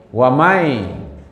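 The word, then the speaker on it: وَمَنْ: Siapa yang taat kepada Allah dan Rasul, waman, itu kan karena dia bacanya man, waman, tapi karena disambut oleh ya, wamai, man di situ manusia maksudnya.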